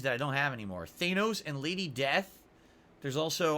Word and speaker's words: Thanos: Back then I thought his name was Thanos. Apparently it's pronounced Thanos, and now we all know that, but I didn't know that back then.